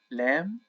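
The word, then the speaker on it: لام: next letter it's just lamb okay which is equivalent to L in the English language lamb let's take this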